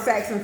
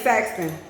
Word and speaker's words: Saxton: says sexy hey Saxon where's the lady that called me Saxon for real Saxon say my name's Saxton with a t that is but yeah